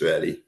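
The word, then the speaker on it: ישראלי: So we had these issues about the Israelis, talk about the Israelis, but we know that the pronunciation is Yisraeli, but that's the term for Israelite.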